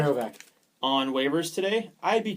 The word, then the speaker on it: Graovac: Another point on the Jets, Minnesota put Tyler Graovic, is that how you say it? Graovac.